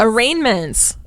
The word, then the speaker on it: arraignment: about today a rainmen arraignments it's fun Court time wait can you spell it don't look a-r-r-a-i-n-g-m-e-n-t nope the G's before the end raining yeah you said